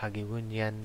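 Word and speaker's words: Jagiellonian: So this is where the school, the name is Hagulinyan, or L is pronounced as W, so we can pronounce it as Hagiunian University in Poland.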